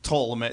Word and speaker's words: Ptolemy: Yeah, I said, is it Ptolemy? And you said that's the correct pronunciation, but it's not the American pronunciation. Yeah, more English would be Ptolemy. Greek would be Ptolemy. They actually pronounce the P. Ptolemy.